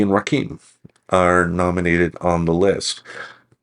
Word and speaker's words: Rakim: Yeah, I was just going to look at I want to understand how to pronounce his name. Do you know it's Rakim for sure?